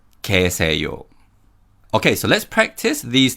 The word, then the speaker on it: 계세요: And in terms of pronunciation, in 계세요, 개 uses the Y glide vowel 예, but the Y sound weakens and we pronounce it as 계세요, 계세요.